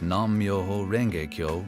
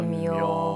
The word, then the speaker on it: Nam-myoho-renge-kyo: nam-myoho-renge-kyo nam-myoho-renge-kyo nam-myoho-renge-kyo nam-myoho-renge-kyo not immuno the phrase nam-myoho-renge-kyo